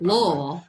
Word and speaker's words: Louisville: You know, he was, when I think of Louisville, you got to say it right. Louisville.